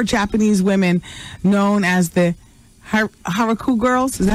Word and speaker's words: Harajuku: women known as the Harajuku girls. Is that how you say it? Huh? Karajuku? Well, this starts with an H.